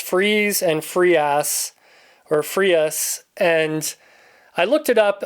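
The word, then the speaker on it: Freas: And this has cover art by Kelly Freeze. I have heard his name pronounced Freeze and Free or Frius. And I looked it up on his Wikipedia page. It says it's pronounced freeze.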